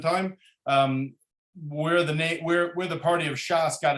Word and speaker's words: Shas: It would be Shin Samach, which is Shisha Sidre, and it's pronounced as an abbreviation Shas.